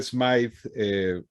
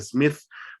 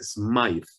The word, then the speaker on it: Smythe: El apellido se escribe con una Y, pero no se pronuncia Smith por alguna extraña razón. Si tuviera una E al final, entiendo que debería decirse Smythe por el inglés antiguo, pero de todas formas así se pronuncia, tiene una Y ahí.